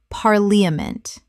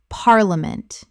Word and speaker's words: parliament: parliament Correct pronunciation. parliament Three syllables in natural speech. The middle syllable collapses dramatically.